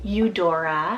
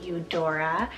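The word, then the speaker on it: Eudora: so stunning and it means pale or white you Dora spell e-u-d-o-r-a you Dora this one means generous gift then for another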